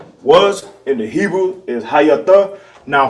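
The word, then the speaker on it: היתה: The pronunciation for was in the Hebrew is hayatah. Hayatah. Right? Was in the Hebrew is hayatah.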